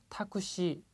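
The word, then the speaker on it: タクシー: 자, 택시의 발음 타쿠시 맨 마지막 발음이 깁니다.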